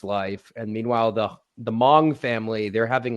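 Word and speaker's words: Hmong: I am I'm going to be specific they're Kong no incorrect pronunciation try again yeah try again Tim Hong no try again they literally tell you in the movie How to pronounce it Mong yes there you go oh silent h yeah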